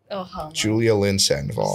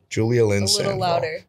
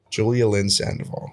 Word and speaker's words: Julia Lynn Sandoval: coming in uh my next story Emily Julia Julia Lynn Sandoval say my name and say it right Julia Lynn Sandoval is that correct Julia Lindsay Julia Lynn Sandoval spell it j-u-l-i-a space l-y-n-n space s-a-n-d-o-v-a-l yes